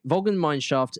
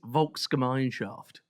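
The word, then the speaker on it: Volksgemeinschaft: Vulgan mineshaft means the people's community. Can we have clear pronunciation, please? It's Vulka Mineshaft.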